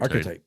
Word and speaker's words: archetype: influenced the everyman action hero hero ary how do you say that word archetype archetype oh weird uh Bruce Willis